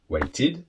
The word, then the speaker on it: waited: So verbs that finish with a D or a T sound that are regular with the ED, you then pronounce id. Wait, waited.